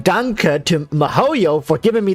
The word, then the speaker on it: danke: hear it thank you it just sounds like dank like dunk like dank with an accent we should be saying danke to mohoyo for giving